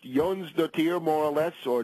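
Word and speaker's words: Jónsdóttir: s d o t TI i r it's pronounced Yon the tier more or less or Jon the tier more in uh in English she has basically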